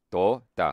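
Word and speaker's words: तोता: Like to, say that to. To. To. To. To. Ta. Ta. Ta. To. Ta. To. To. Ta. So that is parrot. But if you say. Normally say the word toe, like the one you have on your feet.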